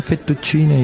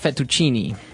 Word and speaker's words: fettuccine: mushroom sauce, but the prawn fettuccine is also very nice.